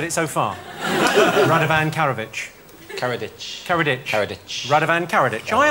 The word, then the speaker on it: Karadžić: Radovan Karadžić. Karadžić. Karadžić. Karadžić. Radovan Karadžić. I asked you how Radovan Karadžić did... Ditch. Ditch. Like, as in dead in a ditch.